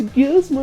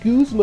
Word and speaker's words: Guzma: me because, you know, it's Guzma, not Guzma, you idiot.